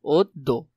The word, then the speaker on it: অদ্য: অদ্য শব্দটা দেখবে, অদ্য বানানটা ভালো করে দেখবে, অদ্য এটা হলো তার সঠিক উচ্চারণ।